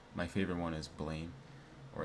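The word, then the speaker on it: Blame!: Like my favorite one is blame or it's it's like pronounced blam. But it's like as text as Americans it's it's pronounced blame.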